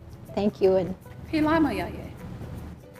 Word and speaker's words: Philamayaye: And I forgot, how do you say thank you in Pilama yaye. Pelama Yaye?